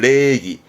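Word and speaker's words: 礼儀: 발음은 레기 예의 바른 레기 다다시라든가 레기 다다시 행의 작법 써가지고 예의 범절의 교기사호나 다음에 인사했던 오직이 이런 부분도 좀 챙겨보게요.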